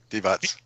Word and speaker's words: Divac: And then after that trade, the general manager, Vlade Divac, is that how you say it? Divac. Yeah. Divac. Thank you. I always mess up that Z at the end of international names.